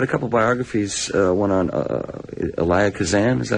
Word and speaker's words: Elia Kazan: I read a couple biographies, one on Elia Kazan, is that how you pronounce it? Yeah, Elia Kazan.